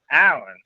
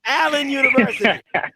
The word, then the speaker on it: Allen University: get no country internet that boy said Iron Allen boy oh you gotta come correct Allen University all right Allen all right gotcha man what's going